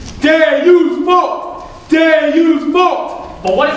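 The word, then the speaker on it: Deus vult: Usain Bolt! You're saying it wrong. It's supposed to be Deus Bolt!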